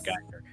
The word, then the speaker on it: Giger: It's Giger. I think it's H.R. Giger. Yeah. Yes. Right? Giger, Yes. Geiger.